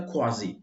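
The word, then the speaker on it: quasi: और उस व्यक्ति को क्वासी, क्वासी का मतलब होता है लगभग, लगभग एग्जैक्टली इसका प्रोनाउंसिएशन होता है क्वाजी।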